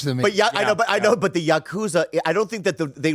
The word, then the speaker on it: Yakuza: And I don't want to be rude, but you're pronouncing it wrong. It's What is it? Yakuza.